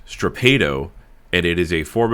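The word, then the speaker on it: strappado: It is actually pronounced strapado, and it is a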